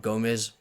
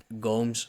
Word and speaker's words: Gomes: I don't know why it's not Gomez. I don't. but Bisping Felder pronounced it Gomes, so let's go with Gomes.